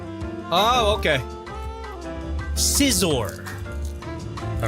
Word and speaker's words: Scizor: Scizor. Oh, okay. Scizor.